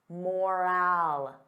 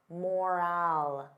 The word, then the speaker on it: morale: Again, confusing spelling, confusing pronunciation, totally different meanings. I won't say them yet. What can we do to improve workplace? Workplace morale. Morale.